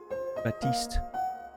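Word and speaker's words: Baptiste: don't play him enough batist it's funny people call him Bap because you wouldn't pronounce the P usually right is he French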